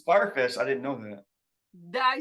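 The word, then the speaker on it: Fyre Fest: Are you aware and do you care that Fry Fest is happening again and it's sold out?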